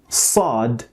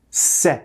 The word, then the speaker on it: ص: start with is that sin and sad do not produce the same sound. So sa must not be confused with se sound. While both are pronounced at the alveolar ridge, the shape of the tongue makes all the difference.